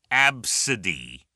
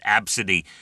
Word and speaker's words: Abcde: It's pronounced Absidy. It's phonetically ABSUHDEE. Okay, it's pronounced Absidy, but it's spelled ABCDE. That's right. First 5 letters of the alphabet. That's the name, Absidy.